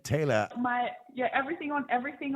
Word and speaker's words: Taila: that's Taylor so yeah we'd pronounce that Taylor but Taylor Madison and if you